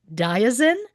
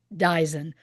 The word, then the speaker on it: Dyson: I have heard his name pronounced both Diazin and Dyson.